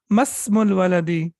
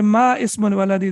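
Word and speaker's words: ما اسم الولد: Masmul waladi. Don't say ma ismul waladi, that will be wrong.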